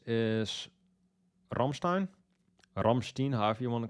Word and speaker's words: Rammstein: me and were like, No, it's not Rammstein, it's Rammstein. Get it right.